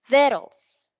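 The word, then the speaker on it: victuals: so it's pronounced as the stress is on the first syllable it's veros please repeat after me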